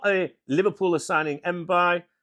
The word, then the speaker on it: Mbaye: Am I pronouncing it right? You know what I'm like? It's not Jack Daniels or John Smith's. Where's my notes here? I've got my notes here. Mbaye. Yeah, Mbaye. Right, okay.